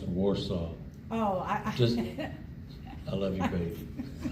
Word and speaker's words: Wausau: I was just going to point out that it's pronounced Warsaw.